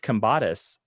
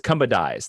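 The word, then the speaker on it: Kambadais: In terms of for Super Best Friend, George Kambatis, excuse me, his name is very Greek and it's hard to say and difficult for myself to say. It's Kumbadais. That's how you say it.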